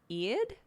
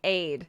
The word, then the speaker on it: Eid: everyone celebrating happy eid e-i-d how do i pronounce that i'd happy eyed like aid happy aid is it both my dad says hi to the video call hi dad it's like eid eid i'd aid it's eid everyone is saying different